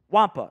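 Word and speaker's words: Xavier Watts: this mock draft, Xavier Wampa. It's kind of like the Yeti creature from Star Wars. That's kind of how it's pronounced. Not quite 1-to-1, but it's pretty close to it.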